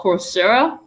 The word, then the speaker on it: Coursera: massive online open courses there's this one called coursera yeah i'm saying it right and it used